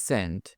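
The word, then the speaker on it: scent: এখানে এস সাইলেন্ট মানে এস কে উচ্চারণ করা হয় না।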